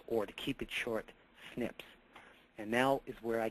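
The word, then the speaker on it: SNPs: DNA predisposition are called single nucleotide polymorphisms or pronounced Snips now this accounts for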